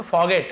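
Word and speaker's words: forget: अब आप बोलेंगे सर आर लिखा है फॉरगेट क्यों नहीं पढ़ रहे हैं, तो फॉरगेट लिखा हुआ है लेकिन आर थोड़ा सा साइलेंट है, फॉरगेट ऐसे रहता है।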